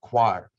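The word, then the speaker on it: coir: sing i said well that's the choir he said exactly that's how you pronounce it coconut choir there's also bark and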